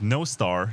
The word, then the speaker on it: Nostr: bits and also one of the co-founders of no star that's the way you pronounce it and he came up with the